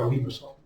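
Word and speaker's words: limaçon: I don't know, it's a French thing. So it's pronounced like an S, so it's a limosome.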